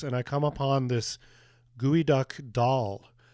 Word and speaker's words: geoduck: It's been three decades since I mispronounced the name of the Pacific clam gooey duck. I called it a geod duck when visiting uh the